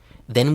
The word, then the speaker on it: than: Then we can go on a picnic. Okay, now you are finished with both words. First, than, which is pronounced then in real life, and second, then.